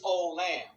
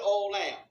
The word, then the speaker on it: olam: The Hebrew word is olam. We pronounce it olam.